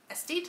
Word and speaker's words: Aesthete: Aesthete? Aesthete, I believe is how you pronounce it.